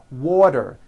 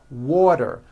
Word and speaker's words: water: middle of vowels then the t is pronounced as a d and the whole word is voiced this is very easy